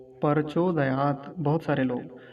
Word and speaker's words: प्रचोदयात्: अगर ये हलंत ना होता तो कैसे उच्चारण करते, तो बोलते प्रचोदयात, त ऐसा बोलते। लेकिन अभी हलंत लगा हुआ है तो कैसे बोलेंगे, प्रचोदयात, ऐसा।